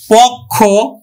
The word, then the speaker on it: পক্ষ: পক্ষ, পক্ষটা আমরা উচ্চারণ করবো কেমন করে? পয় উকার কয় হস পক্ষ, পক্ষ।